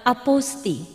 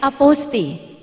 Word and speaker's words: apostille: tangan bapak dan ibu nama boleh tertulis aposile namun dalam bahasa Perancis pengucapan yang tepat adalah a posting boleh berkenan berlatih bersama saya aposty Terima kasih bapak dan